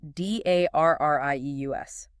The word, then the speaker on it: Darrieus: That's d a r r i e u s, pronounced Darrieus.